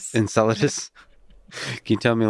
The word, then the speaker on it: Enceladus: Uh, can can you tell me a little more on uh how do you pronounce it? Uh, Salas Enceladus. Enceladus.